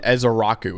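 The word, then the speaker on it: Ezeiruaku: yes just real quick Donovan ezar Raku is how you pronounce that and he's been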